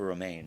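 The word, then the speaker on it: Romijn: gonna mispronounce her name Rebecca romaine right you did not fantastic just like the lettuce which is it was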